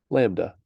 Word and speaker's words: lambda: is the Greek letter Lambda which is written like that like you go a downstroke diagonal and then there pronounced like lamb duh Lambda and uh spelled more